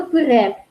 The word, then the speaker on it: пыре: Р в удмуртском языке всегда твердо произносится. Пыре, бере и так далее, но почему-то пишут Е.